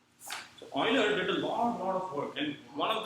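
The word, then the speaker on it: Euler: this is e u l e r is pronounced as as Oiler you can say you yes but don't get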